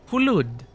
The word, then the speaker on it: Hulud: And Echoes of Shai Halud. Halud? Is that how you pronounce it? Is that how it's spelled? No, right? Hulud.